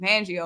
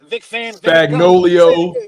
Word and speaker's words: Fangio: Fagnolio, Fangio. Hey, how you say it? Van? It's Fan? Fangio.